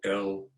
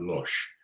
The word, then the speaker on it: loosh: In English, it gets used, it's spelled L-O-O-S-H. You know, if you were Dutch, you would say that losh. But, you know, I'm losh, yeah. Losh, yeah. But in English, we would say loosh.